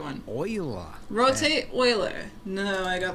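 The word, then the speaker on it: Euler: Uh we need to add shift a utilities rotation rotate not uler oiler. Yes, I know they went with the weird pronunciation.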